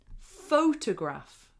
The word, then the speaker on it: photograph: It's actually a photograph. Photograph. Have you seen this? Photograph. Photograph. So in that word, we put the main stress on the first syllable.